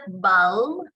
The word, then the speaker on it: balm: It's not balm, okay? You have to, you need to, the L there is read silently. So bomb, palm, rude, duck, gall, boast.